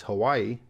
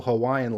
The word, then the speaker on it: Hawaii: opposed to Hawaii and in the actual Hawaiian language I believe was pronounced Hawaii with a W having a v sound and the last state